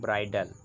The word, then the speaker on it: bridle: बोलते हैं, या जिसे इंग्लिश में बोलते हैं ब्राइडल। स्पेलिंग इसका BRIDLE है, कंफ्यूज मत होइएगा।